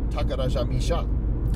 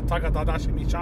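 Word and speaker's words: Takarajimasha: Now I can pronounce it, Takarajamisha. Aha, Takarajamisha.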